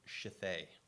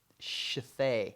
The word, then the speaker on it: Shithead: strange names that she discovered was some woman named her child Shithay. Shithay. Yeah, and it's spelled Shithead. So it's shithead. Shithead. Yeah, Shithay. No. The D is silent.